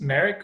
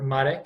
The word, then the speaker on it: Marek: jam so yeah my name is marek or medic if you can roll your R's and most people can't